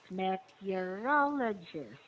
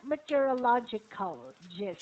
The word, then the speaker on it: meteorologist: one meteorological logistics yeah two ways to pronounce this meteorologist second meteorologist meteorologist meteorologist yes not meteorological just and the ist because we're talking about the person okay what is the